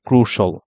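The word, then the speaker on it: crucial: correct যেটা সেটা হচ্ছে ক্রুশল তাহলে ক্রুশিয়াল ওয়ার্ডের কারেক্ট প্রোনাউন্সিয়েশনটা হচ্ছে ক্রুশাল তাহলে এডুকেশন প্লেস এ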